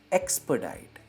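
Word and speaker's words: expedite: इसकी प्रोनाउंसिएशन पे ध्यान दीजिए, ये है एक्सपर्डाइट।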